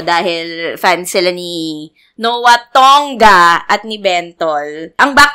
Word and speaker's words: Tonga: Sain sa lahat na ang pagpronounce po ng last name ko ay tongga in Lea salongga G palaung pangal salongga